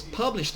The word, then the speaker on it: published: 29 specialties that was published on. Repeat, please. Published pub- on. publish on. Uh, Published on. So you can connect published on. Published on. Okay. This word here, the tense syllable is pu.